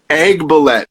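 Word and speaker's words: Aiguebelette: hard i looked everywhere how do you pronounce it egg ballet okay egg ballet france you continue to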